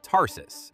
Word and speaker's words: Tarsus: Then move to Tarsus, pronounced Tarsus, and the Cilician Gates, pronounced Cilician.